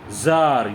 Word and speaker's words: tsar: ज़ार, या TSAR और CZAR, दो स्पेलिंग होते हैं, दोनों का प्रोनाउंसिएशन एक ही होता है, ज़ार।